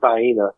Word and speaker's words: Vienna: So, but the one thing I've always had are those, Vienna sausages, which I don't know why North Carolina we pronounce it Vienna either, but, they're the ones that are most consistently with me, I think.